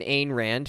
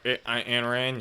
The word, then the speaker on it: Ayn Rand: So he was an Ayn Rand fan. I think that's how you say her name, like the author. Ayn Rand, yeah.